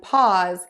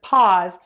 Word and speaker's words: pause: in a bonus word paws to be like a dog foot because pause and paws are pronounced exactly the same way I love that so